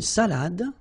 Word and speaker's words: salade: Final you don't insist on it. It only gives you the pronunciation of the previous letter. So, d. Salade. Salade.